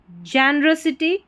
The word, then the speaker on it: generosity: और वैसे मैंने कहा अक्सर अ ही प्रोनाउंसिएशन होता है तो जेनरोसिटी, RO को र करके प्रोनाउंस करेंगे.